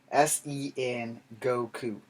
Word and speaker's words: Sengoku: japan doing this sinikoka i totally misspelled that or totally mispronounced that s-e-n goku sengoku period or a single if you say it fast it sounds more exciting now all right and another